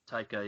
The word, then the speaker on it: Taika: Taika, yeah. Taika.